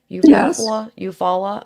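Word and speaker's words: Eufaula: So, Peggy and Maguire went missing November 16th of 2010 from Eupfala, Oklahoma. Is that how you say it? Eupfalla.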